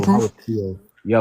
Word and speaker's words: Creole: That's how it's pronounced, Creole.